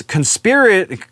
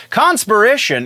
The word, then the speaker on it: Conspiration: in Spider-Man's book is conspiracy conspiration I'm sorry I keep wanting to say that differently and putting the emphasis on the wrong syllable but conspiration is the new villain's